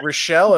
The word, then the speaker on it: Rishell: So Laura, is it Rochelle?